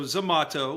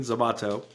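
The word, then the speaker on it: Zomato: So, so Zamato, which is spelled like tomat to tomato with a Z at the beginning. Zamato, Zamato is the Door Dash of India.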